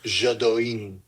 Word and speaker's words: Jodouin: It's Jodouin. But that's, according to the pronunciation, it's Jadouin. Yeah, it's because you almost think it'd be Jadouin, because it doesn't have an E on the end.